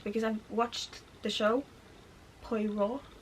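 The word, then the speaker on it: Poirot: I've watched the show poo like I I struggle to pronounce those kinds of things in English but I think poo is right um so like I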